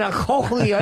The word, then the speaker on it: cochlea: His cochlea doesn't work?